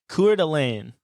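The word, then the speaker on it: Coeur d'Alene: yeah that's pretty close Kur delain is how a red-blooded American would say it I guess I like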